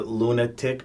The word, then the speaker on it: Luna-Tic: So this is your Luna-Tic brand. Yeah, this right? is my own brand, Yep. Lunatic. Yeah. Yep. So where did where did Luna? It's spelled Luna-Tic. Yeah. Right. So it's Yeah. Lunatic.